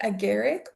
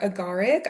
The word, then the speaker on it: Agaric: So, we are doing fly Aaric or Agaric. I've seen it pronounced both ways. I am going to refer to it as fly a Garrick.